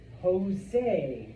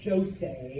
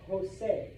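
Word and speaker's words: José: Does anyone know how a Spanish J is pronounced? Like the H. Like an H. Yes. Okay. So that name is Jose, not Jose or Josie.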